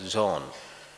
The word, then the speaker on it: Jean: to correctly pronounce it it's a French name spelled j-e-a-n it is pronounced as John John Klein he was